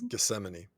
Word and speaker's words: Gethsemane: work no that's not how you pronounce that Geth it's Gethsemane geeman yeah Gethsemane rehearse